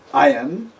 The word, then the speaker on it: ayin: is very similar to the pronunciation of aleph, but a little different. Those of you that know some of the African dialects will notice a certain similarity. Ayin is ayin, and aleph is aleph.